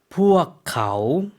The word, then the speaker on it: พวกเขา: 어떻게 발음하죠? พวกเขา 네.